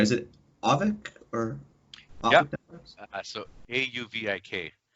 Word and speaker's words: Auvik: I guess, would you over and make sure I'm pronouncing this right? Is it Avic or Avic?